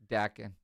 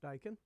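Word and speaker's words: Daikin: Dakin. Is it Dakin or Dyken? Dyken. I think it's pronounced Dyken.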